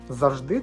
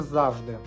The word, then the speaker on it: завжди: рятівним колом До речі як правильно казати завжди чи завжди і чи є це помилкою чи помилкою відповідь проста обидва слова допускають подвійний наголос так само Просто запитати